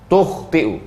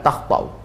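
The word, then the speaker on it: تُخْطِئُ: Wal masyhur, pendapat yang masyhur, dhammut ta, tukhti'u, bukan takhta'u. Wa ruya bi fathiha, tapi ada juga riwayat membacanya patah, takhta'u.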